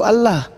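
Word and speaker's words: الله: Bukan alau itu. Itu Allah. Enggak ada di situ. Itu hurufnya tuh alif lamet lamet he. Itu alif lamet lamet alif he.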